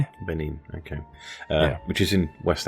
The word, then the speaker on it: Benin: for a time before moving to is it Benin? Have I have I pronounced that correctly? Yeah, it's if the French would say Ben and we say Benin. Benin.